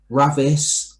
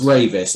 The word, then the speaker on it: Ravis: And thirdly, nobody can pronounce it properly. Ravis, Ravi, Ravi. Digi says Ravi, Ravis. It's Ravis, and I have to keep saying it's Ravis. Digi does it in the kind of French, Ravi.